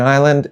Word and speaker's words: island: The s in island is the same guy, just this time he was wrong.